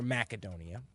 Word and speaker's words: Macedonia: outside of Macedonia or Macedonia we in the west have come to call it Macedonia but I think the proper pronunciations with a hard C so outside Macedonia not